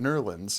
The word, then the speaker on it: New Orleans: New Orleans. That was on it. No. The locals pronounce it Nerlens.